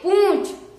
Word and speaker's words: पूंछ: दोस्तों, यहाँ पर चंद्रपिंडी लगी हुई है, यानी कि ये अनुनासिक है, यानी कि हम इसे पढ़ेंगे पू, यानी कि इसमें हम पू का उच्चारण तो गले से करेंगे और जो चंद्रपिंडी है उसका उच्चारण नाक से करेंगे।